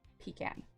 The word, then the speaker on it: pecan: then that settles it there are two pronunciations the american and the british however as they originated